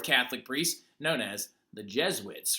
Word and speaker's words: Jesuits: an order of Catholic priests known as the Jesuits right okay now actually pronounced Jesuits but anyway the big thing about it is